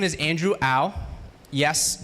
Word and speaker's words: Au: My name is Andrew Au. Yes, it's pronounced ow, like when you hurt yourself.